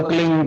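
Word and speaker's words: क्लीं: की मात्रा और बिंदी, उसका उच्चारण होगा क्लिंग गा। गा की ध्वनि निकलेगी पीछे।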